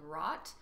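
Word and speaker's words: Wrought: I just made a film called Rot, and you can watch it on YouTube or Vimeo. It's spelled W-R-O-U-G-H-T.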